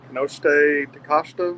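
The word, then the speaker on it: Konosuke Takeshita: I think it's Kanoshite Takashita, I think. Yes. That's how you properly say it.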